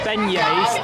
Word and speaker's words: beignets: Pronounced beignets.